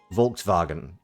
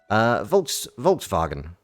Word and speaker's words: Volkswagen: They pronounce V as W. No, they pronounce W as V. So, Volkswagen. This is why it's, so, yeah, in fact, example. Volkswagen, which would be Volkswagen.